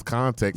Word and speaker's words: Khntxt: pronounce context.